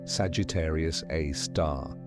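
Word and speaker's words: Sagittarius A*: It has a name Sagittarius A star pronounced Sagittarius A star.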